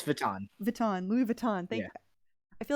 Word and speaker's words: Vuitton: Louis Vuitton shoes Louis Vuitton written yeah it's Vuitton Vuitton Louis Vuitton I feel like I said it and I didn't say it's spelled it's spelled like Wheaton but it's pronounced baton yeah but like there's that and I'm like